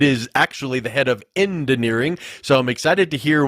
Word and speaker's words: Endineering: And no, I did not mispronounce head of engineering. It is actually the head of Endineering.